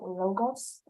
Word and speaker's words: Logos: Are you talking about logos?